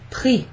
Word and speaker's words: pris: So, yes, it does sound like the word for price, but the word for price has an X at the end instead of an S. So it's pronounced exactly the same.